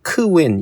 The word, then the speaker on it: Qwen: 근데 요거를 줄여가지고 쓸 때는 이게 보면 영어로 번역할 때는 보통 Qwen, 크웬 이렇게들 발음하는 것 같아요.